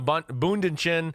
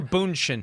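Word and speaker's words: Bündchen: she'll bunch in a bunch in tow technically Boone is not a third syllable I can say that okay whatever the two syllables are there's not an N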